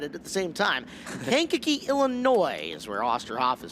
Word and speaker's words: Kankakee: Wow, I mispronounced that, misread it at the same time. Kankakee, Illinois is where Osterhoff is from.